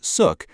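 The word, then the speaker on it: Xuc: Born in the 1940s, the name Shook, pronounced Suk, comes from the quirky shukshook sound made by the clarinet in traditional folk music.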